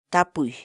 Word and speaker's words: tapuy: de videos en la que te enseñamos a pronunciar algunas palabras en quechua. Así que nuestra palabra del día por hoy es tapuy, tapuy, tapuy, la palabra quechua.